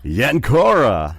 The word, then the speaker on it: Yancura: Yancura.